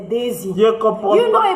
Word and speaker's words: Daisie: Et puis quand vous voulez me critiquer, là, prononcez bien mon nom, je n'aime pas. Je comprends pas. C'est pas Daisy, c'est Daisy.